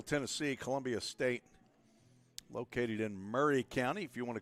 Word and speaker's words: Maury: Beautiful afternoon here in Middle Tennessee, Columbia State, located in Murray County. If you want to call it Maury County, you'd be incorrect. It's M-A-U-R-Y, but it's pronounced Murray, as in Richard Murray County.